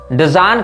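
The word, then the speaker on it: Dzyan: ग्रंथ डिजान कहलाता है अब डेजन का जो उच्चारण है उसमें हमको हो सकता है थोड़ी त्रुटि होती हो लेकिन मैं आपको इसकी स्पेलिंग बता देता हूं डी जड वाई ए एन इसको आप सर्च करेंगे बुक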